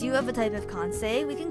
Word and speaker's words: Kansei: Kansei!